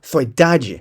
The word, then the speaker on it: saudade: E descobri que tem uma razão pela qual saudade tem tudo a ver com solidão. A palavra nem sempre foi pronunciada desse jeito. Antes se pronunciava soidade, pelo menos era assim